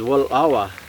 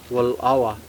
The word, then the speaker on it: Wallowa: I said, to me, that first part of it, that wal, because way we pronounce it is Wallawa. There's a little pause after on the L. Wallawa.